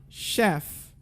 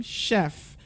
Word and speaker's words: chef: Now also when you go chef. Can I hear you try? Chef. One more time, chef. So would you say chef?